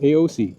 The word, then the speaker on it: AOOCCI: They tell me it's pronounced AOOCCI, just by the letters.